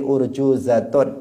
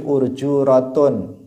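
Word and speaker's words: أرجوزة: Misalnya wahadhihi urjuzatun, di sini za-nya nggak ada titiknya, sehingga kalian sebagian membacanya hadhihi urjuratun, ya kan?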